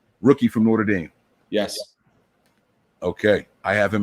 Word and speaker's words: Notre Dame: it all right no tread damn but it's notre dame not northriding and people from new jersey say i've heard norder n-o-r-d-e-r see how this person here says i